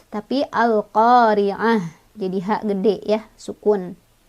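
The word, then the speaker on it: القارعة: berhenti dia jadi hak-hak besar ya buka kanal koriat tapi al-qariah jadi hak gede Ya Sukun makhluk khoriah Hai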